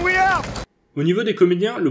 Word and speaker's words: Willard: Ainsi que certains noms de famille qui étaient prononcés à la française à l'époque et qui retrouvent leur prononciation originale. Capitaine Villard! Capitaine Willard!